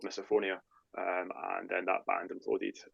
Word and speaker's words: MisophoniA: name Miss phonia I said it right Mia misophonia yes mop but yeah misophonia was the name